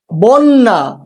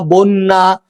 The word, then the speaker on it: বন্যা: শব্দের শুরুতেই অ এর পরে জফলা যুক্ত ব্যঞ্জন বর্ণ থাকলে, যেমন দেখো যুক্ত ব্যঞ্জন আছে এখানে, ঠিক আছে, যেমন কন্যা, বন্যা, অত্যাচার, সেক্ষেত্রে অ এর উচ্চারণ তোমার প্রায়শই ওকারের মতো হয়, যেমন অত্যাচার।